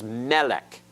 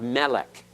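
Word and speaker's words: מֶלֶךְ: are many uses of Melek in Hebrew and Melek means king notice the accents on the first syllable notice the accent over that first syllable Melek is king that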